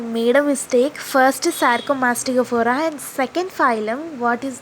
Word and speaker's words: Sarcomastigophora: Let me break this word down for you. Okay, sar. Sir. You call in Telugu. You call it as sar. Okay. Comma, coma, right? Mastigo, fora.